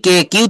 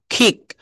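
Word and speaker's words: kick: সি কে কিউ থাকলে এর উচ্চারণ ক না হয়ে খ এর মত উচ্চারণ হবে।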